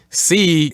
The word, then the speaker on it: sí: Sí, you pretty much pronounce them the way you say, I see something, or just like that. You would pronounce them exactly like you pronounce the word S-E-E in English.